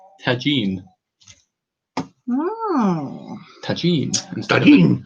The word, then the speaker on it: tagine: But somehow they got switched into and Kath said it's pronounced tagine. Oh. Tagine. Instead Tagine. of tagini.